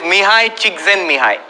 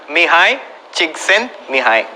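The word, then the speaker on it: Mihaly Csikszentmihalyi: If you learn how to spell the name and pronounce it, I'll tell you. It is Mihai Csikszentmihalyi. Mihai Csikszentmihalyi.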